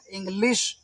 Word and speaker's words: English: तो ई एन जी एंग हो गया, इंग, एल आई एस H leash हो गया, इंग्लिश, ठीक है।